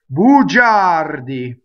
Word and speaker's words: bugiardi: So the R rolls. Notice that the I is there just to make the G instead of ga, ja, right? So G-A is ga, G-I-A is ja. The I softens, right?